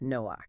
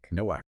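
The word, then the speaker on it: נֹחַ: So in biblical Hebrew, the name is pronounced Noach. Noach.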